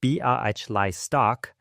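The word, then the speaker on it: Białystok: On the next stoop east, a Jewish family from Bawisto, Poland, pronounced ba stock has dragged kitchen chairs onto the stone.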